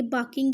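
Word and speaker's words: barking: जाओ डॉग इज बाकिंग ये बाकिंग है आर साइलेंट होगा बाकिंग गो इंसाइड गो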